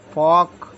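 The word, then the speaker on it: folk: के इसको बोले वक एफ ओ एल के फॉक फग नहीं है सेंट वाला लोक गीत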